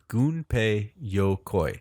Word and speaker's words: Gunpei Yokoi: the pronunciation I'm sorry it's GU in PEI goon Pei goon pay sometimes it's spelled G um so goon pay a ninja in Japanese in an M or somewhat interchangeable but anyway it's good pay Yokoi goon pay yokoi yeah his family name